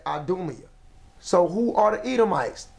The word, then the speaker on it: Idumea: Right here where it says Edom, if you want to say that in Greek, it would be pronounced as Idumea.